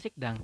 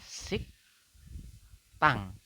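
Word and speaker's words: 식당: secara tulisan tetapi untuk membacanya bukan sigdang teman-teman Anda membacanya adalah sik tang sik tang sik tang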